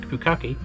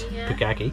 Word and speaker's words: Pukaki: And Lake Pukaki, or if that's correctly pronounced, Pukaki, yeah. Pukaki, is Lake Town we came past.